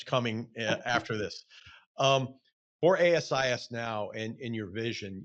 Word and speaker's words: ASIS: let me ask you about Asis or or or Asis I mean what's the right way to say that I always say both and I know there's a preferred it's it's Asis that's the preferred thank you I stand